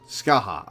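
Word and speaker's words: Scathach: That's how it's pronounced, right? Yes. Scaith.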